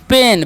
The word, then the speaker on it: pain: देखिए, पी का उच्चारण क्या करना है प, और AI जब भी रहेगा ना तो उसका उच्चारण एकले कर देंगे, तो हो गया पे, और एन से ना तो हो गया पेन।